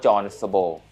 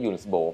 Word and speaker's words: Jonsbo: หรือ ว่า John สโบ ทำไม ผม ถึง เรียก ยุ่น สโบ เพราะ ว่า ผม ถาม จาก ตัว แทน นำ เข้า มาเรียบ ร้อย แล้ว ว่า จริง ๆ แล้ว ไอ้ แบรนด์ นี้ มัน อ่าน ว่า อะไร นะ ครับ เขา บอก ว่า ถ้า อ่าน แบบ ภาษา อังกฤษ ก็ คือ John แต่ ถ้า เกิด อ่าบ